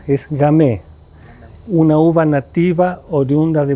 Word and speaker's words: Gamay: Es un vino rosé fino, seco, de la uva Gamay, cuya pronuncia es Gamay.